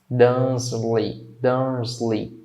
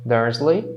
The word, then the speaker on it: Dursley: Dursley. Quando eu falo, tá? Termino com esse Y aqui, não é lei, tá? É li. Então, por exemplo, o Mickey, na verdade, pronuncia-se Mickey.